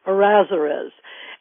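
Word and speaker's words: Errázuriz: hard name to say so I'm going to spell it for people it's e r r a z u r i z azerus and they have a single Vineyard um uh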